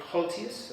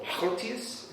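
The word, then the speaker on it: Goltzius: Um, he's a Flemish artist and Henrik Haltus or Haltius if you're being pronouncing it properly.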